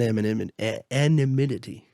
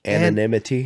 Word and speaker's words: anonymity: No, that's not how you say it. Anonymity? Anonymity. Anonymity. And we're going to get this right. Anonymity? Yes. Thank you. All right. The M is at the end, not at the beginning.